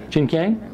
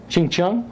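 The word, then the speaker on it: Chinkiang: This is Chinese black vinegar, pronounced Qingqiang. Okay, there you go. Say again? Qingqiang.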